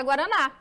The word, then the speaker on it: guaraná: ela tá aqui ó na palavra guaraná eu falo guaraná não eu falo guaraná você vocês tem que pronunciar dessa forma para que você se